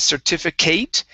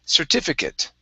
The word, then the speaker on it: certificate: Okay, next up, this word here, the ATE is going to be pronounced like an IT. So it's instead of certificate, it's certificate.